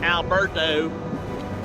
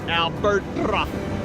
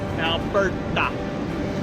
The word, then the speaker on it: Alberto: I've been saying it like Memphis, Tennessee, Alberto. No, it is Alberta. Alberta. It's supposed to be a Spanish, you're supposed to roll your R's.